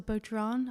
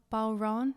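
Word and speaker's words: bodhrán: so i actually bought i think it's pronounced a budron a balron it's like an irish andrum and i bought one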